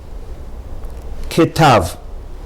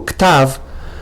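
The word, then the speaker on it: כתב: Ketav. As opposed to ktav, you have to say ketav, using the rule that Sheva at the beginning of a word is a Shva Na.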